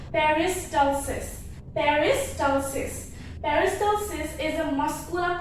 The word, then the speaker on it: peristalsis: So your food moves through the GI tract by a process called peristalsis. So if you don't remember the pronunciation, you can remember like this. Peris, okay, peris, then tal, then cis. Peristalsis. So food moves through the